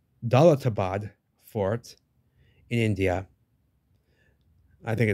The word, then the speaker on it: Daulatabad: a doubt without a doubt so that was do doad for excuse me I've been saying it wrong dbad fort in India I think it's near Delhi